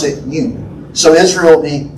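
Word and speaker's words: יוד: U-D, you'd pronounce it Yud.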